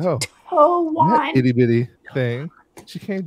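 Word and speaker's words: Tuon: The T silent.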